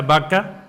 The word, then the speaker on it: Baca: Si nosotros vemos en la raíz original del hebreo, porque este salmo fue escrito en hebreo, vemos que la palabra Baca, Bau-Kau, que se pronuncia Baca, significa lágrima o lamento.